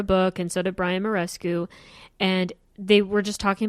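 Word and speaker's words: Muraresku: 100 is their name s-k-o-o-l is how they spell it um they have this video with this guy named Brian Marrakech and uh uh Karen Armstrong Armstrong yeah and it's Brian morescu sorry so this guy Brian morescu and Karen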